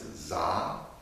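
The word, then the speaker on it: Dza: This one is Za, D-Z-A, Za.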